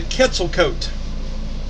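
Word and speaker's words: Quetzalcoatl: um avian creature that they call the the quetzalcoat that's actually how you pronounce that it's spelled q-u-e-t-z-a-l-c-o-a-t-l no [ __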